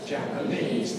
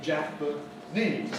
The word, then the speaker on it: Japanese: Japanese. Notice the vowels. A in Japan, where pan is stressed, but in Japanese, where the first syllable, the Jap is stressed.